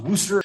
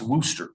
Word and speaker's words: Worcester: Yes, that is pronounced Worster.